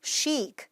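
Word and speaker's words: chic: 자,이 밑에 있는 거 ch로 시작을 하지만 치발음이 나지 않습니다. 발음해 볼까요? sheek.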